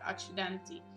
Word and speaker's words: Accidenti: Oh, het wordt op zijn Italiaans uitgesproken. Accidenti.